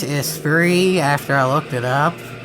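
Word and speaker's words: Esprit: Lotus is actually pronounced is free after I looked it up that it has a t in it it why would a British car have a silent T that's like calling the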